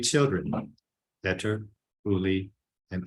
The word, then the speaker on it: Uli: He and his wife, Anna Wies, had 3 children, Peter, Uli, and Anneli. I have been told that the first names ending with an Li or Ly, pronounced Lee, often occurs during childhood.